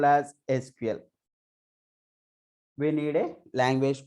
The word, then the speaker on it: SQL: So we have to pronounce this as a SQL Server. It is not SQL.